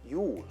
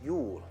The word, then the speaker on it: Jul: Jul, like Yuletide carols, Jul.